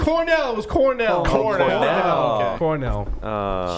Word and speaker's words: Cornell: Cornell. Rhymes with Bucknell.